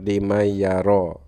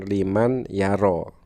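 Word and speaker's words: لمن يرى: Semisal di dalam tulisan limay yaro, aslinya tulisannya kan liman yaro, dan itu dibacanya menjadi limay yaro begitu.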